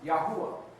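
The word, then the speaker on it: Yahweh: In the Hebrew text, it's written with four letters without vowels, transliterated into English as Y hw. The proper pronunciation for this tetra grammat is Yahwa which means oh he or oh he is.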